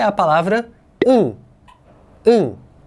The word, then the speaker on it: 응: que é a palavra um um e aliás eu acho esse desenho em hanger tão bonitinho né parece um hambúrguer um Essa é pronúncia um significa sim mas é